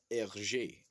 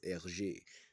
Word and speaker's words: Hergé: Belgian uh, graphic novelist Hergé. Is how you say it, okay? If you speak French, that's what it is Hergé.